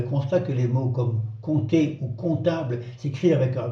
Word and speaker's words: compter: siècles, en ancien français, on disait compter, avec un P qui se prononçait bien. À la fin du Moyen-Âge, aux alentours du 15e siècle, le français a simplifié la prononciation de certaines consonnes dites implosives, celles qui se trouvaient au milieu des mots, surtout entre deux autres consonnes. Ainsi, le P de compter s'est fait discret jusqu'à disparaître à l'oral.